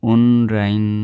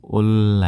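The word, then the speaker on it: 온라인: अनि तल्लो प्याराग्राफमा जाने हो भने ओलन सोपिङ मोरुल थोंगेसदो यो ओनराइन नभिकन ओल्ला है पढ्दा खेरि चाहिँ ओल्ला हुन्छ है ओल्ला पढ्दा खेरि उच्चारण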